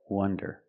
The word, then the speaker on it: wonder: Now, let's talk about wonder with the closed sound uh uh w- wonder.